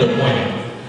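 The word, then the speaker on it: Don Moen: bilang Don bolehlah k makan tahu saudara tapi pengucapan aslinya Don Moe kitaikan Danda oe Jadi ulama ulama oe PPS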